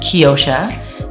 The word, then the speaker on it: Keyosha: It's pronounced Keyosha, meaning key of the ocean.